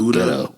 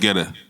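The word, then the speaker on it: Guetta: a dope song with David uh ghetto I think it's how you say it butto no GTO David geta yeah David geta bro like that was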